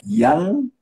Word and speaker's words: Yann: your your name is Jan and it is pronunciate like young ancient name from Brittany that's a very